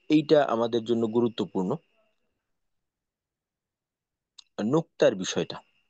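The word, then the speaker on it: نقطة: নুকত এটার পূর্ণ নাম আরক উচ্চারণটা নুকত বা আমরা একটু সহজ করে নুক্তা বলতে পারি আমাদের বলার সহজার্থে।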